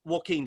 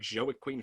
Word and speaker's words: Joaquin: on the thing like when you hear about an actor like joaquin phoenix you know what i mean if you saw his name you'd be like joey queen phoenix but like everyone knows